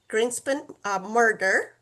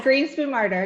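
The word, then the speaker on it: Greenspoon Marder: and uh she represents Greenspen Murder. Murder, right? Am I pronouncing it right? Yeah. Greenspoon Martyr. Yes.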